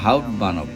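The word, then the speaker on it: Hauptbahnhof: আমরা প্যারিসের গার্ডলিও থেকে সুইজারল্যান্ডের জুরিক হারবারে যাব, যেটাকে জুরিক হাউপ্ট বানব, উচ্চারণটা হাউপ্ট বানব।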